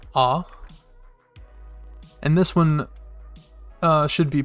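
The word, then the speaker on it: あ: o for this kana if you look there is almost a letter a right here in the beginning or right here in the middle rather so uh if you remember the letter a and the kana it's pronounced ah and this one should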